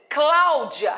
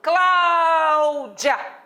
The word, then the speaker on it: Cláudia: Quando eu falo Cláudia, repare que o clá, o timbre é aberto. Fechado? Cláudia. Meu nome não é Cláudia, meu nome é Cláudia.